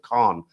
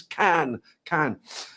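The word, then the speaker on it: Cannes: I used to pronounce it Khn Khn. But the French will tell you and say no no it's can.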